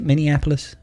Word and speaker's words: Minneapolis: Am I even pronouncing that correctly? Is it Minneapolis?